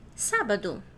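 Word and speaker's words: sábado: So the one that you are hearing higher, louder is the first one.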